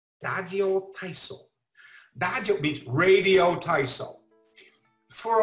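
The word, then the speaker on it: ラジオ体操: And I'm going to use the Japanese pronunciation here. Dajyo taiso. Dajyo taiso.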